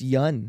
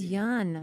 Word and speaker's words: Yeun: You guys keep pronouncing my last name wrong. Yes. Yes. Have we? Have you too? What is it? It's yeah. It's Yeun. It's Yeun.